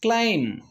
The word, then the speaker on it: climb: the end of the word climb it is climb not climb next word comb not comb the last letter is silent the same way many people often confused